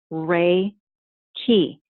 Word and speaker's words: Reiki: traceable to early Buddhism Reiki it's pronounced ray ki and it is a